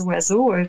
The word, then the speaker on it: oiseau: Dans le mot oiseau, il n'y a aucune syllabe et un son qui a rapport à... comment je vais dire ça? Le mot oiseau devrait s'écrire, si on l'entend, O-U-A-Z-O, mais il n'y a